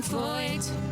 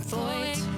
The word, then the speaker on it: Feucht: Sean Feucht. Sean Feucht. Nothing rhymes with Feucht. So thanks a lot for that. Sean Feucht. Wait, I think I've got it. He's not from Detroit.